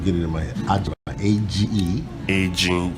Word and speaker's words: Agyemang: Agyemang, A-G-E. G for Germany, Y-E-M-A-N, for Germany. Y-E-M-E-N-M-A-N. G. And so, yes. And the pronunciation slowly. Agyemang.